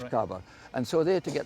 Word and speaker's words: caber: get the the cabers the Scottish word for log is cabber and that's a proper pronunciation is cabar and so they to